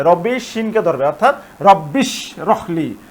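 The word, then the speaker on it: رَبِّ اشْرَحْ لِي: হামজাটি হচ্ছে হামজা অসল তাহলে এখানে এই হামজাটি আর উচ্চারণ হবে না। সরাসরি রব্বি এইশিনকে ধরবে। রব্বিশিনকে ধরবে। অর্থাৎ রব্বিশ রখলি রব্বিশ রখলি এটা হবে।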